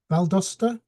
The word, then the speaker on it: Valdosta: of Library Science and a cataloguer at the Valdosta, if I'm pronouncing that correctly.